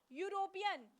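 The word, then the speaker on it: European: यूरोपियन, यूरोपियन में वाई यू की sound आ रही है, यहाँ में बड़े यू की मात्रा, तो क्या लगेगा, आ लगेगा।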